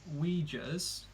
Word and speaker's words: Uyghurs: They've been accused of locking up 1 million Uyghurs, and that is the correct pronunciation because I looked it up.